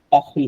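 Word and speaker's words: parlé: আর আমরা যখন বলি জো পাখল বলি, আমরা আই স্পিক, জো পাখল বলি। আর এইটার উচ্চারণটাও হচ্ছে আপনার পাখলে, একশন এগু থাকলে এটা উ হয় না, এ হয়ে যায়, পাখলে।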